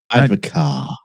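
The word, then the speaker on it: advocaat: Advocar. What? It's pronounced advocar.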